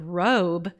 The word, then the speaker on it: robe: There must be a silent letter we're missing after the B. What's a silent letter we can put behind the B that's going to help the O make its long sound? Oh, you got it. It's a silent E.